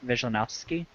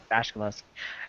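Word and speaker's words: Vasilevskiy: Pavlik against Andrei Vizhnevsky. You used to know how to pronounce Vasilevsky. Vasilevsky.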